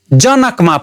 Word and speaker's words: जनक: अलि राम्रो सुनिदैन त्यस्तै जनकमा पनि जनक जमा अलि बढी बल पर्छ पहिलो सिलेबलमा बढी बल पर्छ नकमा जोडदिएर हेरौ ज नक राम्रो सुनिदैन त्यस्तै तीन वटा अक्षर भएको शब्द सनातन उच्चारण गरि हेरौ।